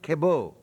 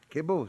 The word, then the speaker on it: Cabot: who's Cabot a Breton pronounced kebo kebo streets quote back back to for uh 39.